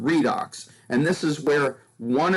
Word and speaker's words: redox: in chemistry uses redox instead of saying red and ox for reduction and oxidation we just pronounce the word redox and this is where